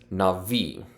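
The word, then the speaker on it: נביא: And then aleph is a silent letter. So really, we're just doing this part. That is navi.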